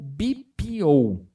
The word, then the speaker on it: BPO: me acompanha aqui você deve ouvir alguma coisa do tipo bipo né porque Luiz Mas é bpo por que que fala bpo tudo que eu uso porque essas pal essas três palavras elas são pronunciadas em inglês porque vem dessa das